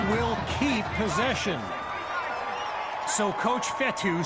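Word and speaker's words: Fetu: keep possession so coach fettu spelled f-e-t-u for the longest time i was pronouncing it coach fetta like feta cheese so let's just say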